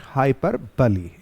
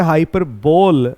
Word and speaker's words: hyperbole: figure of speech में हाइपर बली जी हां बहुत सारे लोग इसका उच्चारण जो है हाइपर बोल भी करते हैं लेकिन वह गलत होता है इसका सही जो प्रोनंसिएशन है वह होगा हाइपर बली तो आज हम यहां